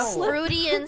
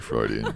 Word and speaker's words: Freudian: Fruitian slip. That's not how you pronounce that. It's Fruitian slip. Fruitian. Right. Wait, then how do you pronounce it then? Okay, all right. Freudian slip. It's definitely Freudian, Tina.